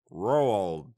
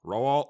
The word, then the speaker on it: Roald: written by Roald Dahl Roald Dahl row all rolled let me look it up uh looks like rural Dahl seems to be the proper way to say it he basically has a